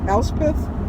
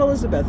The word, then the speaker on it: Elspeth: Elspeth, not Elizabeth, Elspeth.